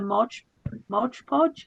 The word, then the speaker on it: Mod Podge: I tried it with a Mod Podge, is that how you pronounce it?